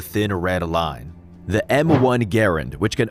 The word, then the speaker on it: Garand: The M1 Garand, which can also be pronounced Garand, depending on who you ask, is by far the most prominent firearm in the movie.